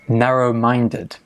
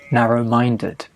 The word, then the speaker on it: narrow-minded: Pronunciation, narrow-minded. Okay, stress on the minded, narrow-minded.